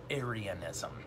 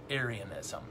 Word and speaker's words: Arianism: called arianism okay arianism now if you're like me the first time you heard arya and you thought of nazis right this is unconnected to nazis it's spelled different a r i a n arianism and why is